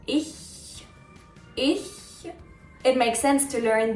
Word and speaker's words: ich: It's not ich, it's not ish, it's ich. I think it's easier to pronounce it correctly when you smile. Ich.